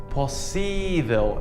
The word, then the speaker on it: possível: Well, yes, almost, but we also have to change the stress. So the stress is on the E sound in Portuguese. Let me show you how. So, for example, possible becomes possível in Portuguese, and convertible becomes convertível in Portuguese.